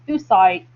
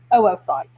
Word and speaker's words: oocyte: i know that looks like it should be pronounced oocyte but it is oocyte um and that's what that's the technical terminology